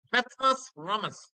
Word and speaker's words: Petrus Ramus: Petrus Ramus. The pronunciation is like this, Petrus Ramus, because they use their nose to talk.